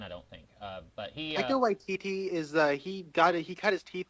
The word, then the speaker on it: Taika Waititi: How do you pronounce his first name? Taika Waititi. Okay. It's directed by him. I've never seen anything that he's done, I don't think. But he Taika Waititi is he cut his teeth directing episodes of